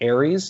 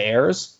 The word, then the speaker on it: Ayres: on air i think i pronounced his name like aries instead of heirs just because i didn't